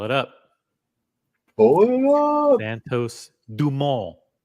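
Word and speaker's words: Santos-Dumont: up pull it up Santos dumal it's the way you pronounce it in French I did have three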